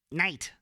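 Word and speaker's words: Nite: and roll all night I have to pronounce it that way when it's spelled n-i-t-e night after they came off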